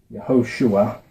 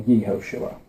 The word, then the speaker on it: Yehoshua: And it's vowel pointed like this, which is usually pronounced Yehoshua or Yehoshua. Right? This little, I don't know the names of the pronunciation dots, but I can read them. It's like Yehoshua, but anyway, it's pronounced the same as the full version.